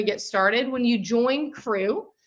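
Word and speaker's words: QRU: By the way, Quilting Rockstar University, QR, we have decided is pronounced crew, which I just feel like sounds so fun.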